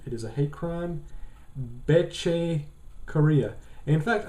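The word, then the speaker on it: Bethe: is a hate crime beche Korea in fact I actually didn't know that you pronounce uh be's name is beche until I watched the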